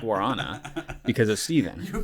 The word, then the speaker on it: guarana: Yeah, now it's guarana, but it is guarana, not guarana.